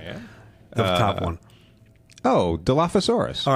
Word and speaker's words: Dilophosaurus: So Dilophosaurus in English, in the English language, that's usually with the F sound, PH.